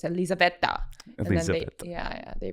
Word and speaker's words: Elizaveta: I always introduce it because it's Russian, but it doesn't sound Russian. So I say, I think Elizabeth, but like with an Italian accent. So it's Elizaveta.